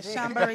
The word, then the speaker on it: chambray: And I told him that I would definitely pair this with a chambray skirt. That's how you pronounce it? Yes, okay. A chambray skirt.